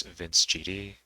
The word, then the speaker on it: vncegd: you know me well refer to me as vince gd but if you are completely uh unfamiliar with